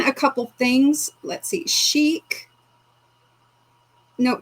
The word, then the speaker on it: chic: No, usually C H I C is just pronounced chic. I don't think they usually say chick because there would be a K at the end, but anyway.